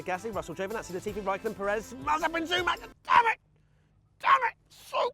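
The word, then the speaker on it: Pérez: It's Perez. It's because I've changed my pronunciation of it to the right way, and now it's screwing me.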